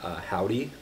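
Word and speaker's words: Hovvdy: One is this band called Howdy. They spell it H-O-V-V-D-Y.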